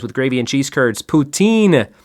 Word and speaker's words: poutine: gravy and cheese curds poutine or Putin as you might hear in certain parts of Canada number six what popular